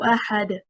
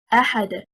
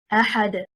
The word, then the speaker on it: أحد: For example, Allah subhanahu wa ta'ala said in Surah Al-Ikhlas, قُلْ هُوَ اللَّهُ أَحَدٌ. The word أحد, the stress is on harakat al-hamzah because it is stronger.